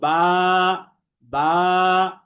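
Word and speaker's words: باء: পড়তে হবে আমরা বলব বাবা বা নিচে এক নুক্তা যুক্ত বা হরফটি এক আলিফ টেনে পড়তে হবে এবং বা হরফটি আমরা দেখেছিলাম যে বারিক বা পাতলা তথা এটা মুখ স্বাভাবিক রেখে পড়তে হয় এসবিএম মেথড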